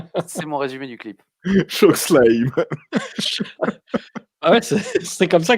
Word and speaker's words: chokeslam: Chokeslam. Ah ouais, c'est comme ça que ça se prononce.